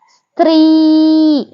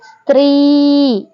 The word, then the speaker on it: ಸ್ತ್ರೀ: ಇದು ಕೂಡ ಸಿ ಅನ್ಬೇಕಾದ್ರೆ ತ ಪ್ಲಸ್ ರ ಒತ್ತಕ್ಷರ ಎರಡು ಸೇರಿದಾಗ ಸ್ತ್ರೀ ಅಂದ್ರೆ ಈ ತ ಒತ್ತಕ್ಷರ ಮತ್ತೆ ರ ಒತ್ತಕ್ಷರವನ್ನು ಕೂಡ ಈ ಸ್ವರಗಳು ಸೇರಿಸಿಕೊಂಡು ನಾವು ಹಾಗೆ ಉಚ್ಚಾರಣೆ ಮಾಡಬೇಕು ನೋಡಿ ಇಲ್ಲಿ ಸ್ತ್ರೀ ಸ್ತ್ರೀ ಹಾಗೆ ನೋಡಿ ಇನ್ನೊಂದು ಉದಾಹರಣೆ